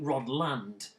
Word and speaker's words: Rodland: well here's the thing i've always pronounced it as a kid rod lund uh but i've heard some people say understandably rod land rodland rodland call it what you will it's um